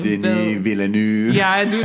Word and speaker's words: Denis Villeneuve: Denis Villeneuve. Yeah, I do not. Yeah, that's never coming out of my mouth. When we the fake American French is just like, let's just not pronounce some letters.